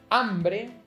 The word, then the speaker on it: hambre: encounter words like hombre, hambre, ahogar, and hierro. Hombre, not hombre. Hambre, not hambre. Ahogar, no. Ahogar. So, notice how there's an H in these words, but there's no difference in their pronunciation?